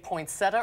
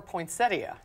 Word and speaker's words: poinsettia: in France no no say poinsettia or poinsettias poinsettia I do too I feel like the proper termina I said poinsettia our leader cuz I felt like it was proper for you fluffy in box